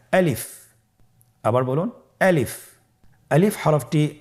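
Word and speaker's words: ألف: আমাদেরকে বলতে হবে বলুন আলিফ আলিফে কিন্তু কোন টান নেই আপনারা বুঝতে পারতেছেন আমি যখন আলিফ বলছি এর মধ্যে কোন টান হবে না আলিফ আবার বলুন আলিফ আলিফ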